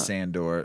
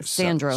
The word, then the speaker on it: Sandro: I always pronounce his name wrong. Not Sandor. Sandro.